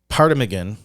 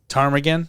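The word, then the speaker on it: ptarmigan: kills and eats a paragan Tagan Tagan it's like a pterodactyl p is silent oh wow I forgot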